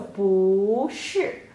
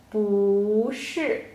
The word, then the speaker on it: 不是: So, 不是. Why? Because 是 is a falling tone. So 不 before 是不 will change to a rising tone. Okay, so 不是不是 Yeah, so in this